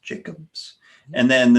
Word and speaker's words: Jackobs: Jacobs t-o-m-j-a-c-k-o-b-s looks like Jacobs but it's pronounced Jacobs and then the name of the business is